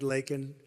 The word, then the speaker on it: Laken: brilliant 22-year-old nursing student, Laken Riley. You know Laken very well now. And after months of prodding him, Biden couldn't pronounce her name. He said Lincoln Riley, and Lincoln Riley is the football coach, or the coach.